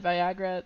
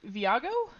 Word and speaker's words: Viago: David, and my brain said Viagra. That's not how you say that. V. Viago.